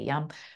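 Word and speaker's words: yam: It's spelt Y-A-M, but we say yum.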